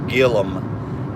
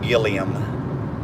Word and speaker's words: Gilliam: a name like Gillum so the way you pronounce our last name is Gillum and uh a lot of people were pronouncing Gilliam but it's Gillum so I'm glad I was